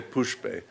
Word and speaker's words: pushpe: pronounce the Tibetan properly, people end up saying poopy doopy. And a friend of mine in retreat said to me, I'm not going to correct all of these Tibetan pronunciations. I'm going to stay Banza and not Vajra. But one thing I am never going to say is poopy doopy. I'm going to say pushpe, dupe.